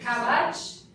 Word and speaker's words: cabbage: Which is the correct stress? Da-da, da-da, or da-da? Is it cabbage, cabbage, or cabbage? Cabbage. Yes.